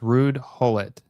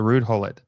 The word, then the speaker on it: Ruud Gullit: So it's pronounced Ruud Gullit. Okay, so Ruud Gullit.